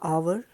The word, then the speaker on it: hour: of never say a hour always see an hour because over's h is silent so it has a vowel sound in the beginning all the letters begin